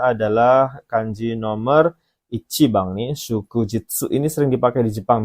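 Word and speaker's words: 祝日: Ya, kanji yang ini ya nomor 6 itu bacanya adalah kanji nomor Ichibang nih, shukujitsu.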